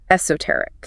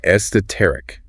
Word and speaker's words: esoteric: Okay, next is esoteric. Esoteric. Stress on the third syllable. Esoteric.